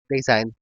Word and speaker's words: Dasein: I don't know how they pronounce it, but I pronounce it as Design. That's according to the American pronunciation.